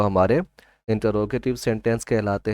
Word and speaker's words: interrogative: कुछ जगहों पर मैंने ये सुना है इंटेरोगेटिव इसको पढ़ रहे होते हैं, तो ये इंटेरोगेटिव नहीं बल्कि इसको हम पढ़ेंगे इंटरोगेटिव सेंटेंस।